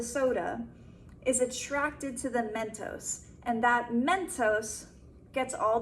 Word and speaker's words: Mentos: Mentos and soda, I always say this word wrong, Mentos and soda, I always want to say it like thos, Mentos.